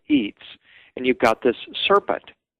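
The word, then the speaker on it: itz: that the Mayans called Eats. Eats was a very important concept to the Mayans. It's spelled it tz, but it's the the the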